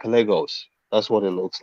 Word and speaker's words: Lagos: and uh you know the proper pronunciation of that word is Legos people don't pronounce that word right Legos it's a Portuguese it's